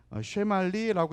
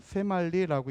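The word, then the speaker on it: שמאלי: 근데 이 세말리라는 단어는 점이 왼쪽에 있어요. 왼쪽에. 그래서 쉐말리라고 읽기보다 세말리라고 읽어야지 발음상 좀 가까워요.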